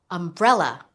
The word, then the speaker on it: umbrella: Umbrella. Umbrella. Do you hear the stress? It's on the second syllable.